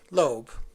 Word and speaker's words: Loab: characters that said uh L OAB b l lobe she decided to pronounce it lobe okay that's what this